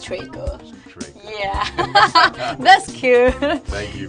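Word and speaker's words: 锤哥: you remind me yeah it's try good TR it's cute try good yeah Trey means like the hammer and the good means like the brother B it's try good yeah that's cute thank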